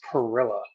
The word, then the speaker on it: Pirila: And I'm realizing now as I'm preparing to read the bio that I never asked how to pronounce his last name. No worries. Pirila. Pirila.